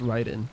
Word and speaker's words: Raiden: It's supposed to be pronounced Raiden.